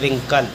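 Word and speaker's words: wrinkle: पढ़ेंगे राइट अगला है डब्लू आर आई एन के एल ई आर से पहले डबल डब्लू साइ से पढ़ेंगे रिंकल अगला है डब्लू आर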